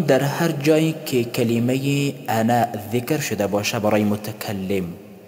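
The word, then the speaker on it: أنا: هر جایی که کلمه انا ذکر شده باشه برای متکلم بدون الف تلفظ می شود. انا در قرآن کریم در هر جایی که ذکر شده باشه ای بدون الف تلفظ می شود، الف تلفظ نمی شود.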